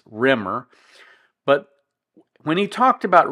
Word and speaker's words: Remmer: rer case of course he called it reer but it's spelled r m m r so it's not really reer it's Rimer but when he talked